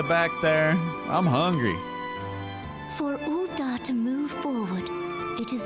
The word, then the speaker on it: Ul'dah: It is Ul'dah. Okay. The pronunciation.